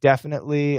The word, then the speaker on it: definitely: Shane, I hear Americans pronouncing definitely as without the T. Yeah, definitely. Yeah, you shouldn't. It should be a stop sound.